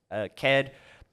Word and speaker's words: Caird: But yeah, Caird, it's spelled Caird, and I get some weird ones where they're like, oh, Caird.